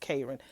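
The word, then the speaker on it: Karan: Okay, Karran K It's Her spell name is spelled k a r a n, but it's pronounced Karran.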